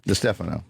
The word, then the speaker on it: DiStefano: Is it the Stefano? Wait, DiStefano. Because of Mike D. Yeah, that's what I'm saying. I I always always mess it up. DiStefano. It is the Stefano, Yes.